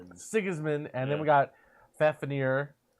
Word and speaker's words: Sigismund: I've got Sigmund. I've got, I always say his name wrong. Sigismund.